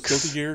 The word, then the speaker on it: Guilty Gear X: And also, it's pronounced Guilty Gear X. Is that? I didn't know how to say it. I always thought it was like. Send the copy pasta of It's all the titles. Guilty Gear. Okay, it really goes Zex.